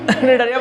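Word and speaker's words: Cnidaria: নিডারিয়া নাইডেরিয়া একই ব্যাপার, যেভাবে উচ্চারণ করবে। বা আয়ের উচ্চারণটা আই করলে নাইডেরিয়া, তাই না? নিডারিয়া বলতে পারো, ওটা অনেক, তবে আয়ের উচ্চারণ এইভাবে করে তো অনেক ক্ষেত্রে।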